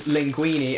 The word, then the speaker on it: linguine: It's called linguine. And why do they call it linguine? You guessed it, because it rhymes with trampolini.